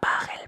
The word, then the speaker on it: Pachelbel: Así que nada, espero que hayáis disfrutado del vídeo y la próxima vez que escuchéis el canon de Pachelbel, recordad, se pronuncia Pachelbel.